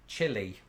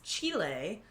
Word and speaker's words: Chile: and speaking of spanish i used to pronounce this chile and i think most people in british have since evolved my pronunciation because of this one well it's chile because it's the place chile it actually sounds